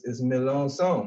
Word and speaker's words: Melancon: last name alright so so the C is silent and this is Malone some was also like it's a retro Creole name for clarifying that